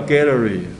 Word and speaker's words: Galilei: 这字叫 Galilei。